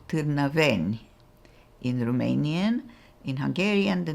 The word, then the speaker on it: Târnăveni: It's pronounced Târnăveni.